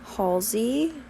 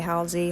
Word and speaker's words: Halsey: with love featuring halsey halsey however you want to pronounce it i switch it up i say halsey halsey this song i'm a